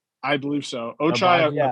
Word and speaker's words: Ochai: Am I Am I right in saying Ochai? I believe so. Ochai.